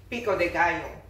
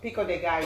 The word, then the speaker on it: pico de gallo: Pico de gallo. Oh, de gallo? De gallo. Pico de gallo.